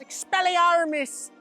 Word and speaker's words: Expelliarmus: The next spell I picked was Expelliarmus. Expelliarmus. That's how they say it in the movies.